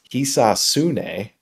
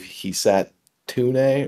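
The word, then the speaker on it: Hisatsune: So it's Hisasune, where I was saying, I believe Hisatune or something, but whatever, that's wrong.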